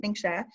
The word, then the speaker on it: Ningxia: sure it is and we explained here it's pronounced lingsha it's a powerful superfood drink that contains whole